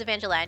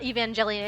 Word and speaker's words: Evangelion: Neo Genesis Evangelion. Yeah, it got the hard hard G. It's not Evangelion. It's Evangelion, or is it I always pronounce it like lion separately, like it's like I don't know why.